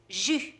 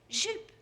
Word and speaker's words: jus: But the word for juice is jus. Elizabeth pronounced it as jupe. So what she really asked for was a glass of skirt.